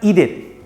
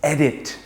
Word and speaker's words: edit: edit them for you it's not eat it it's edit the last word for